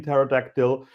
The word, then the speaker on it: pterodactyl: Like, have that beer, get another pizza, have another cocktail, like, don't pronounce the P in pterodactyl, like, do whatever you want, because there is no law any longer.